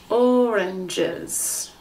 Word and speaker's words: oranges: these together jez jez oranges so now it has three syllables oranges try it repeat oranges